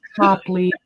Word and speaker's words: Copley: It helps if you spell it right, girl. I say Copley. It's Copley.